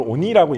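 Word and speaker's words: 鬼: 일본에서는 그거를 그 귀라는 한자를 쓰고 그걸 오니라고 읽거든요. 오니.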